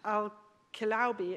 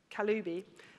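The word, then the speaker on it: Kaliouby: As Rana Al-Kilaubi, I think I've got her name wrong, actually, Kaloubi, the CEO of Affectiva,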